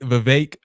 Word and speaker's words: Vivek: Former primary candidate Vivek, rhymes with cake, Ramaswamy, and Congressman Byron Donalds, the one that looks like Dex, were all pictured down.